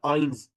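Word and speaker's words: eins: Zero हो गया null, और वन को कहते हैं आइंस, आइंस, आइंस। ई आई है इसलिए पहले आई की आवाज आएगी, आइंस।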